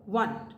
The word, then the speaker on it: one: is about the word one that is W sound o n E1 we write as o n E1 when we pronounce as W so w is not a vowel sound so I will say